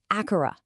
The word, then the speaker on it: Akara: The first sound is Akara, pronounced Akara.